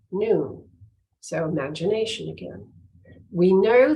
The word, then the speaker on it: nun: The Hebrew letter nun, pronounced noon, don't you love it? I could say the Hebrew letter noon, pronounced noon.